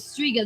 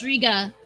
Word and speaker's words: Striga: confusing but i guess at least striga has that hard g sound there but anyway uh